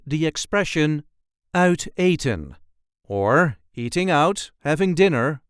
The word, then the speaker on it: uit eten: There is a light emphasis on the first syllable of the second word. Outan outon outan outen.